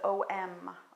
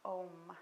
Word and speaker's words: Om: We often see it as Om, Om, it's what it sounds like. But actually, in its traditional version, it has 3 parts to it. And it's spelled A, U, and M. So we're going to break it down and try chanting all 3 parts.